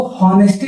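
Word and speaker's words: honesty: इसको ऑनेस्टी नहीं पढ़ते। यहां एच क्या होगा? साइलेंट होगा। ऑनेस्टी।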